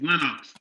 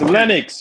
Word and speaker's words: Lennox: was he representing LX his name is lenx it's Lennox you dummy it's Len you guys